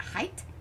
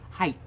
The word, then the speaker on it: height: She's like, why do you guys say, is it height? Height. Height. Height. Yeah, we don't say the G. Well, I don't think you pronounce the G.